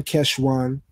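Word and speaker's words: חשוון: The standard Tiberian pronunciation, Keshvan, is the second month of the civil year, which starts on the first of Tishri.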